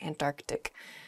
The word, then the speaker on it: Antarctic: is the antarctic they're sort of like almost a hiccup in the word they're antarctic oh uh in a